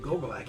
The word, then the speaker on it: Gogolak: 1972, NFL New York Giant place kicker Pete Gogolak scored a team record 8 points after touchdown in 62-10 win over the Philadelphia Eagles at Yankee Stadium, New York City. Ouch. By the way, good pronunciation. Gogolak, you nailed it.